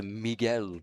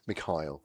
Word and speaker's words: Mikhail: And Mikhail, is that right? Mikhail. Mikhail, is how you pronounce it. Thank you very much. I don't know. It's definitely not Miguel anyway, because he's not from Spain.